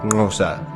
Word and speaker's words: Xhosa: Hence, Xhosa is usually pronounced something like Xhosa, but I think it's time to explain a bit about the African people and their kingdoms.